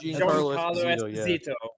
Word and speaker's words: Giancarlo Esposito: Giancarlo Esposito.